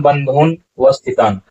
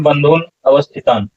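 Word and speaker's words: बन्धूनवस्थितान्: तान समीक्ष सौते सर्वान बंधुन वस्थितान सर्वान बंधुन वस्थितान ऐसा उच्चारण नहीं होगा उच्चारण होगा सर्वान बंधुन अवस्थितान यहां पर देखिए सर्वान बंधुन अवस्थितान ऐसा उच्चारण और इस तरह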